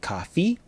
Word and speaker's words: coffee: Put 1 stress on the strongest syllable in each word. So, do, you, like, ka. Fi doesn't have stress.